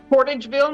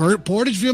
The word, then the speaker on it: Portageville: right your your town how how do you pronounce that it's Portageville Missouri P Portageville Missouri okay I thought so okay uh so